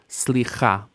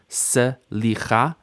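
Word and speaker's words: סליחה: Now, in classical Hebrew, we should hear the shva, slicha, slicha, 3 syllables. But typically in standard pronunciation in modern Hebrew, we mush the shva into the next consonant, slicha. New consonant, ayin.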